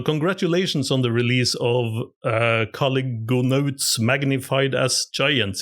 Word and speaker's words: Caligonaut: It's I think it's I always pronounce it Caligonaut. Caligonaut, yes.